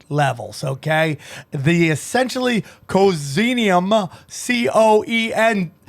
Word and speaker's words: coenzyme: to boost nad levels okay the essentially cozinium c-o-e-n-z-y-m-e how do you say that cozzini oh enzyme coza okay coenzyme i like that